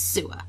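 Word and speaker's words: Suu: girl in a cage her name is sua this is Chinese so it's the proper way to pronounce it not like little Mary Sue they're supposed to be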